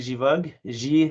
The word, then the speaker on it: Givoque: And so yes, my name is Givog. Okay. Givog is a soft G as opposed to Guy. And Okay. Givok, merci Givog, pour le yes, corriger. it's French.